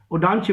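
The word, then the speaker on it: Ondaatje: I repeat the spelling, Ondatji. Odanje we pronounce it.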